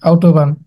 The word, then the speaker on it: Autobahn: আচ্ছা, এবার তো গুগল ট্রান্সলেটরে আসলেন, এখন যদি আপনি চান যে এটার পারফেক্ট উচ্চারণ শুনবেন, সেক্ষেত্রে কি করবেন? জাস্ট ক্লিক দিবেন, Autobahn, দেখছেন আউটোবান।